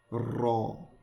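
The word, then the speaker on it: ر: Next, ra. This one you want to roll your R just a little bit.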